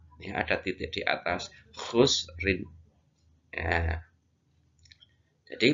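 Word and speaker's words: خسر: Innal insana lafi khusrin.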